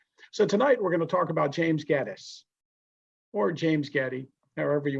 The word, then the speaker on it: Gettys: I asked them is, how do you pronounce your name? And they all agree, Gettys. So since their name is Gettys and they pronounce their name Gettys, we should call it Gettysburg and not Gettysburg.